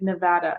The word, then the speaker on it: Nevada: a small town, and they are very specific on the pronunciation of that word, because when you see it, it sounds like Nevada, and it actually took me years to be able to say it correctly again.